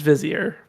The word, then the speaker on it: vizier: What did the Wazir have to gain by causing the islands to hate one another? I hope in the last scene he says it's pronounced Vizier.